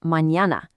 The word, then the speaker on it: mañana: And the future, tomorrow, is mañana, complete with that ñ sound we talked about earlier.